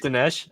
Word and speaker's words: Dinesh: Is it Dinesh?